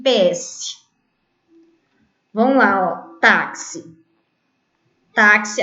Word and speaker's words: táxi: PS1 Bom vamos lá táxi um táxi a sílaba tônica é o tá termina com i não tem acento senão